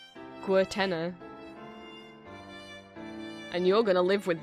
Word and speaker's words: Guertena: I'll be honest, I've never known how to pronounce the artist's name. I'm gonna say Guertena.